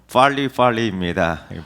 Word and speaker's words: 빨리빨리: 여러분 영어로 어떻게 발음할 것 같습니까? PALI. 영어로 빨리빨리입니다.